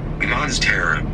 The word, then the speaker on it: Monstera: All right, let's listen to how we pronounce it. I'm gonna turn on the air. Monstera.